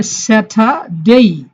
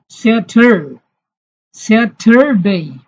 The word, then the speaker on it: স্যাটারডে: সিলেবলের শেষে আর আছে, ব্রিটিশরা আর এর উচ্চারণ করে না, তাহলে উচ্চারণ হবে স্যাটারডে। আমেরিকানরা আর এর উচ্চারণ করে, তবে জিহ্বা বাঁকা করে পেছনে নিয়ে যায়, স্যাটারডে।